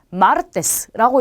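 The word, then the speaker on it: martes: 마찬가지로 끝에서 두 번째 모음의 강세가 오겠죠. 첫 번째, 두 번째 여기에 강세가 와요. 자, 그러면 읽으실 때 마르테스라고 읽는 게 맞겠죠.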